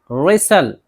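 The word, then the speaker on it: wrestle: इस तरह रेसल, रेसल कुश्ती करना। तो इन सब में भी देखिए ए टी को नहीं पढ़ रहे हैं, खामोश है टी, लिखा तो जा रहा है लेकिन पढ़ना नहीं है।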